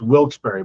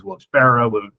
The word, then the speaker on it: Wilkes-Barre: Ticket ticket master is Friday night at Smackdown, December 12th, Moheaggan Arena in It's Wilsbury, by the way. People will tell you to pronounce different ways. Wils Barrow, you're a Disney person, right?